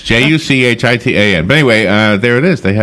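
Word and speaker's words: Juchitán: It's Juchitan.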